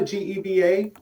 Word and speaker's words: Geva: And is it Geva, G-E-V-A? How do I pronounce that?